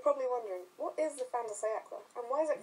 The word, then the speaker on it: fin de siècle: To start with, you're probably wondering what is the fantasy and why is it pronounced like that? Well, despite the spelling, it's pronounced fan, not fin because it's the French for end, and has nothing to do with sharks.